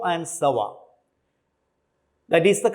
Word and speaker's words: Savart: experimentally determined by biotin savarts it is actually pronounced as bo and sawa that is the correct pronunciation the biot can